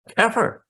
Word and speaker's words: Scheffer: Is it Scheffer or Skeffer? Skeffer. All right.